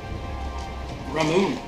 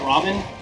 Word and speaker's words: Ramune: pick us one out Ramon I I used to call it Ramen when I Didn't Know Better Ramen who love that